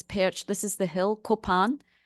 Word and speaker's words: Kopan: This is perched, this is the hill, Kopan. Sometimes it's spelled K-A for apple, P for Peter, A-N, Kapan. You'll see that when you go there. They call it Kapan, but us Indies call it Kopan.